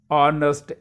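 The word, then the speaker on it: honest: फिर आगे आता है शी इज ऑनेस्ट lady, ऑनेस्ट H जहां साइलेंट है और ऑनेस्ट आ की आवाज निकलती है साउंड, ऑनेस्ट लेडी।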